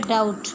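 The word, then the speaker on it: doubt: ये वर्ड है डाउट, B silent है शक।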